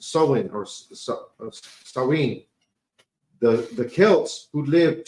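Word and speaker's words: Samhain: to the ancient uh Celtic Festival of saen pronounced SN or sinen the the Kelts who lived 2,000 years ago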